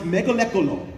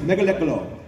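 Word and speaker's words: Mgalekgolo: it's like five it is Mega it is pronounced mealo is that actually how you that is how you pronounce it it's mealo and they said they said that I'm like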